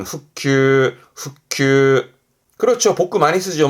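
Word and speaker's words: 復旧: 발음은 후큐, 후큐.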